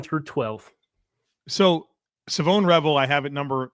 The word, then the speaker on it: Shavon: He did an interview where he finally came out where like people figured out that S h a vo n is like you would say Siobhan shavon it's Savone and he said you know what now that